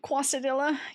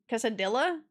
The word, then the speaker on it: quesadilla: Bouncing the L? Quesadilla? Because it's funny. It's pronounced as a Y? Quesadilla? Yo, yeah, I know. It's like quesadilla.